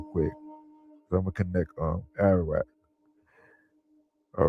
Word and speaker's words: Ararat: So when you translate Armenia in Hebrew, the transliteration is Ararat, pronunciation Ararat, of foreign origin, Ararat.